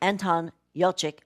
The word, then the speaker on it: Anton Yelchin: Colin Farrell, it's got, I think his name is pronounced Anton Yelchin, as a teenage boy next door.